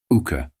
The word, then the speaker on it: Hooker: Hooker by name. Mr. Brooker had a queer way of pronouncing his name without the h and with a long u. Ukah.